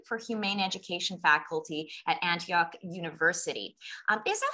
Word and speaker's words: Antioch: of the institute for humane education faculty at antioch university um is that how you pronounce it yeah antioch okay just wanted to check i was like